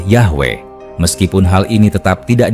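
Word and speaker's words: Yahweh: Beberapa ahli menyimpulkan bahwa pelafalan aslinya kemungkinan adalah Yahwe.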